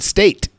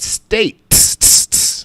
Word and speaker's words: United States: at the end state it's not united state it states like it's ruby the